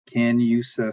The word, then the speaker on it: Canusa: I may be mispronouncing it, so Scotty will correct me if I am. Canusa Street.